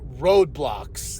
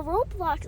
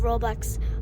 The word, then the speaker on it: Roblox: I want to understand like roadblocks like can you okay what I said it wrong yeah so Roblox is a game thank you okay how did I say it wrong you said Roblox Roblox there you go so I'll explain it